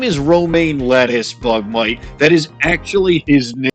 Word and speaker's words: LeTouse: It's supposed to be pronounced lettuce because his first name is Roma, but I've been just because it's funny.